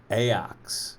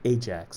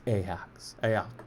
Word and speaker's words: Ajax: I always called it Ajax, like the cleaner, right? But I guess it's Ajax, whatever.